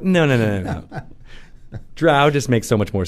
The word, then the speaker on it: drow: But yes, the only people who are wrong are the people who say "dro" instead of "drow."